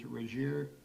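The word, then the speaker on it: Regier: with the budget and how you pronounce his name is Rajir R E G I E R.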